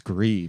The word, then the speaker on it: Gris: Is it Gris? I think it's Gris. I don't know. It's GRIS for those of you listening. I don't know what the hell. It's Gree, man. The S is silent.